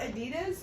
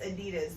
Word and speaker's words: Adidas: I'm actually gonna save the Adidas for last, which I just found out Adidas aren't pronounced, it's not pronounced Adidas, they're pronounced Adidas.